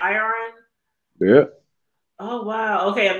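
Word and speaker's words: Irion: Iron.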